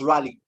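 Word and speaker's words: Raleigh: young and it was fashionable to have a rally a rally Chopper he rallied this or that now it's it's spelled r-a-l-e-i-g-h I'm pronounced rally but if you put another word r-a-w-l-y ear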